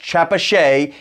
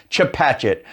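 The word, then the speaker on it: Chepachet: gloucester known as to Patchett no it's not pronounced Chapa chez it's pronounced chip hatchet from route 100 south we're going to continue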